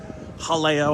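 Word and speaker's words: Jaleo: We had Galileo when Molly was down one time. Halleo, I think, is actually how you pronounce it. should probably stop pronouncing it like a Midwestern white guy.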